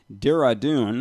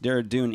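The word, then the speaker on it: Dehradun: he also teaches annually at the luther dev renew junior theological college at dira dune i believe that's pronounced deredun india where he has served as an adjunct professor since 1989.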